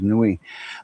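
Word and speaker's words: Niue: Uh, Cook Islands Nation, a ruling nation and Cook Islands and Newi. N I UE. I pronounce it as Newi.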